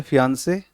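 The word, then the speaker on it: fiancée: देखो, देखो यहाँ पर जो बात हम कर रहे हैं प्रोनाउंसिएशन की, इसको बोलते हैं फियांसे और फियोंसी। फियांसे, फियोंसी।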